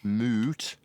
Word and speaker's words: moot: by referencing timmy clan moot like moo cow and mute with a you got it got it